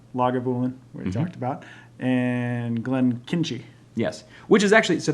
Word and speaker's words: Glenkinchie: Glenkinchie actually follows the Chimichanga protocol.